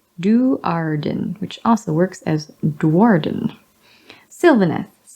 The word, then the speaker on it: Sylvaneth: Sylvaneth, like silver. The root word is sylvan, which means consisting or referring to woods.